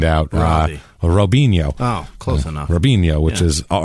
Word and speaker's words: Robinho: robinho oh close enough robinho which is it's Robin ho is how it's spelled r i b r o b i n ho o Robin ho robinho so we got robinho